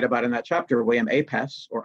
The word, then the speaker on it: Apess: And a great example of that is a guy I write about in that chapter, William Apess, or Apesh, it's pronounced, a Native American orator and minister and